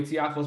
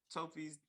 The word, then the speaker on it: Tiafoe: So when is Tofi's? Did I say it right? Tofi? Tiafo.